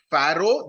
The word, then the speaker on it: pharaoh: another term which you should be aware of pharaoh that's how it is pronounced okay p h a r a o